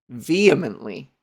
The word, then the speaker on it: vehemently: Vehemently. Pronunciation. Vehemently. Oh, the H is silent. Vehemently. No, okay, never mind. Yeah, it's vehemently. Vehemently. So you go instead of huh.